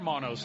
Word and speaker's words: Hermanos: is it autod dromo Hermanos Rodriguez uh yeah or a monos as they would say the H is silent in Spanish and I struggle with